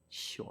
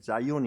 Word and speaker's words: 시온: 나의 소망 우리 민족적인 간절한 칼마 그 상징이 시온 아 큰 현대에 들어 오니까 역사의 시오니즘 이라는 말이 나왔어요 시원이 좀 어 시원을 영어 발음으로 하면 4 의원 인데요 그래서 시온 임을 자이온 있은 그렇게 표현하는데요 2 싸이 오니 좀 유대주의